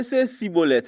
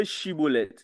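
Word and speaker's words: Shibboleth: So they'll say Sibolet, and they will say Shibolet.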